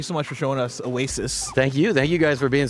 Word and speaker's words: Awaysis: Remember, Oasis is spelled AWAYSIS. Like your sister is going away.